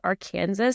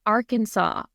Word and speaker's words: Arkansas: This is hysterical, but like my son thought that it was Arkansas for so long. And I was like, honey, it's Arkansas.